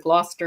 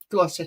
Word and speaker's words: Gloucester: thought I'll just walk around and film parts of Gloucester.